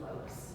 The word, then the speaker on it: Loucks: Oh, it's Laux. How do you spell that?